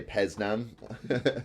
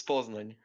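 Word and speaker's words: Poznań: I'm going to say Peznan on my end. Poznan. It's Poznan.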